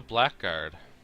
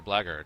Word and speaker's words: blackguard: what is dorman jordans a blackguard or a blaggard whichever way you want to pronounce that he's a half